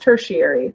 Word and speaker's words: tertiary: third category of color now it's pronounced tertiary the ti right here in the middle it's pronounced with that sha noise like Nation nation has that TI as well um so tertiary and